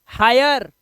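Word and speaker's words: hire: व तो वायर क्या हो गया वायर और हिरे मत पढ़ लेना इसे या हीरे पढ़ लो हायर लेकिन यहां पर ई जो है यह साइलेंट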